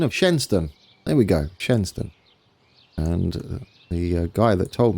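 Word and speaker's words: Shenstone: I have been informed of the correct pronunciation of Shenston. There we go. Shenston.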